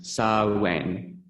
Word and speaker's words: Samhain: As we settle into the festive season of the Western year, we will explore the festival of Samhain, that's pronounced Sow-win, meaning the end of summer.